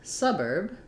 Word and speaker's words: suburb: Similarly, in suburb, I also have first syllable stress, and the second syllable is shorter.